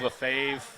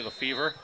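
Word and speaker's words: Lefebvre: or of a favor that the particular last name lef EBV re that are like 9,000 different pronunciation of the fav some even say the fever will go with Lefevre Feb for now northern France southern France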